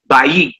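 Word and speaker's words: בַּיִת: Bayit, which means house. Okay, Melech, which means king. And Na'ar, which means young man, are all accented on the first syllable. So you will come out and put your emphasis on the very first syllable and not the last one.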